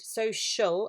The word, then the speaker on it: social: so and uh shul that's the tricky bit it's spelt with a c and the c and the i together are making a sh sound social and it's a l